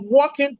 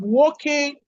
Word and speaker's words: Woking: Willie is spelled WYLIE. So I said, see also the case of Smith and Superintendent of Working Police Station.